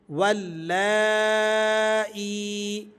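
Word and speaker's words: واللائي: واو لام زبر ول، لام کھڑا مد زبر لا، اور اس کے بعد ہے اگلا حرف حمزہ یا زیر ای، واللائی، واللائی۔ تو یہ ہم نے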